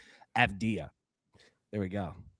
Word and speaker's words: Avdija: Avdija.